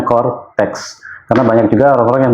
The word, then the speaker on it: Coretax: Jadi Cortex itu tulisannya gini, CORETAX ya. Oke. Jadi bacanya Cortex.